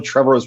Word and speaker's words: Trevorrow: Like I was like, you're not Colin Trevorrow's brother. He's like, well, it's Trevorrow. It rhymes with tomorrow.